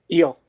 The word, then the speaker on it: Yule: one flea captain yule is that how you pronounce it how do you pronounce your last name eel yeah i i was